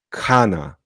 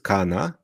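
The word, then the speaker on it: खाना: albo jeść czasownik jeść Kana to nie jest Kana tylko kana kana długie a czyli k ch to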